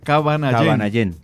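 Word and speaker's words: Kavanayén: Originalmente es de Cabanallén, porque allá es donde comenzó, pero ya ellas Cabanallén. Así se pronuncia en Pemón.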